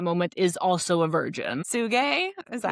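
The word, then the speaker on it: Tsuge: Suge, is that how we Yeah. say his name? Yeah. Suge.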